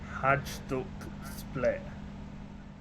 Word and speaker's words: Hajduk Split: So it's, I believe the pronunciation is Hajduk Split.